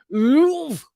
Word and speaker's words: Louvre: I think you just say Loov, but you act like you're slightly vomiting while you do it. Louvre.